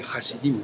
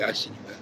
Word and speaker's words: hassidim: Parce que finalement, souvent les gens prononcent le H. Ils ne vont pas dire les chassidim, mais les hassidim.